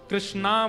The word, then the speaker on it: कृष्ण: लोग अधिकतर कृष्ण शब्द का उच्चारण गलत करते हैं। कई लोग कृष्ण कहते हैं, कई लोग कृष्णा बोलते हैं, कई लोग कृष्ण बोलते हैं। बहुत उच्चारण उसका शुद्ध नहीं कर पाते। शुद्ध उच्चारण कृष्ण। बोल वृंदावन बिहारी लाल।